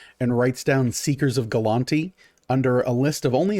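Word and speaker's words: Gulanti: How would you spell that? G-U-L-A-N-T-I. Galanti.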